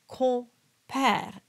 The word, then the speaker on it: compère: And you'll notice that I'm not pronouncing the M. And this is what is very sneaky because the letter that follows is P and that requires you to close your lips.